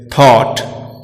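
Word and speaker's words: thought: जब जी एच एक साथ वॉवेल के बाद आता है तो जी एच दोनों एक साथ साइलेंट रहते हैं, जैसे थॉट, फाइट, डॉटर। और एक बात और हमें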